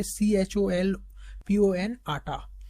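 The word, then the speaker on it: Cholpon-Ata: इसका नाम प्रोनाउंस कैसे करेंगे, CHOLPON आटा, है ना, ये आपको याद रखना है एज a tourist and cultural capital of एससीओ, ये आपको याद रखनी है।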